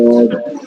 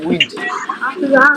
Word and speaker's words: wind: তারপর দ্য ওয়াইন্ড নাকি উইন্ড, The wind, the উইন্ড, wind, দ্য উইন্ড, wind blew হ্যাঁ, blew, Firza throughout the town.